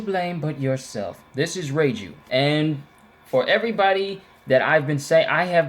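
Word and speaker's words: Reiju: but yourself this is ray jus and for everybody that I've been saying I have been saying ray Jews name wrong I've been calling her ragey but her name is Ray jus so I apologize for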